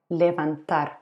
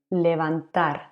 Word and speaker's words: levantar: also to lift something levantar to lift or to get up this is a regular verb levantar ending with ar levanto it's also written with v but one more time we pronounce a b what if we want